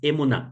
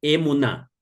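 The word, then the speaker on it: אמונה: el término técnico hebreo es emun s es emun a ver hasta tanto Denme un segundito voy a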